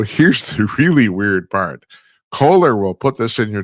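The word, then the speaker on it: Kohler: And finally, oh my God, the Koehler company, or is it pronounced Koehler? I think it's Koehler, excuse me. It's pronounced Koehler.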